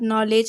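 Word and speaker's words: knowledge: তো এই তিনটি শব্দই KN দিয়ে শুরু হয়েছে, সুতরাং কে এখানে অনুচ্চারিত থাকবে, শুধুমাত্র অ্যান উচ্চারিত হবে, অর্থাৎ নলেজ, নাইট, নি এরকম উচ্চারণ হবে।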